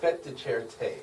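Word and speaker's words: fête de charité: The fete de Charite. Is that how you even pronounce it? Is that even? It's so funny. Everybody does that. No, it's fete de Charite.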